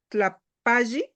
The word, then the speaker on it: Tlapalli: Cuando son dos Ls, ¿se pronuncia una sola? La pali, Crayolas. Tlapalli o tlapali, Tlapalli. es tlapali, Ah, ¿qué más?